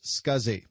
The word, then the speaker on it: SCSI: Also, if you can think of any other Fast as Possible episodes that you'd like to see, the abbreviation SCSI is pronounced SCSI, and this stands for Small Computer Systems Interface.